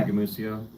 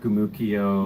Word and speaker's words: Gumucio: or Yeah, Gamucio. For those who can't spell that, g u m u c i o. It's a soft c like mice. It's not Gumukio or Gumuchio or Gumshoe.